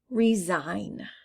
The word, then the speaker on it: resign: separate in your mind resign resign i don't hear the g i'll put that with